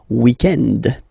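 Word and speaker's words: week-end: weekend okay but then pronounce it the French way weekend the weekend okay but then in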